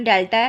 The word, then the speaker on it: डेल्टा: बहुत लोगों को इसके बारे में पता नहीं होता। तो गलत प्रोनाउंस करते हैं। इसलिए मैं आपको बता देती हूं। इसको हम डेल्टा प्रोनाउंस करते हैं।